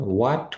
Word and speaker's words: what: এখানে কিছু WH question আছে, যেরকম দেখেন, হোয়াট উইল ইউ ইট? তুমি কি খাবে? হোয়াট উইল ইউ ইট? তুমি কি খাবে? এখানে ওয়ার্ড যেটা আছে, WHAT, এখানে এইচ এর উচ্চারণটা হবে না, হোয়াট হবে, হোয়াট না, হোয়াট।